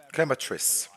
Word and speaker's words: Chemetris: Chemetris. That's how you pronounce it.